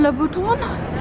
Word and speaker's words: Louboutin: And we've got Christian Louboutin, that's how you pronounce it.